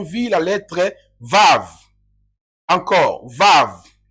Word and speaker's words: Vav: Dans l'hébreu antique, c'était Wav. Mais dans l'hébreu moderne, c'est Vav.